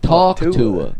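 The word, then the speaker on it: Talk Tuah: Because I was just like, oh, talk rhymes with hawk. I didn't even get Tua. like talk to her.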